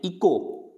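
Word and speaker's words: echo: अब इसको क्या पढ़ेंगे, इको, इको यानी इको, यानी एच नहीं बोला जा रहा, इको।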